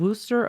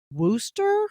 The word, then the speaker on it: Wooster: the southwestern electric line that connected Cleveland and Worster Ohio Wooster yeah it's even spelled woster w o s